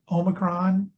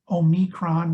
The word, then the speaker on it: Omicron: all this new variant can be pronounced a number of different ways omicron omicron which is boris johnson's favorite pronunciation or o micron all of them are legitimate and i think convey